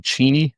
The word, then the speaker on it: Cheney: I thought it's pronounced Cheney Washington. It's really Cheney.